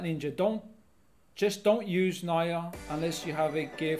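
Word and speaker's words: Nya: things slightly different so i pronounce it naya not neo you're in the u.s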